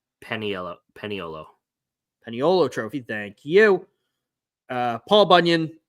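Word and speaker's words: Paniolo: forget what this one is called, how to pronounce it, not Puntilla. Peniolo Trophy, thank you.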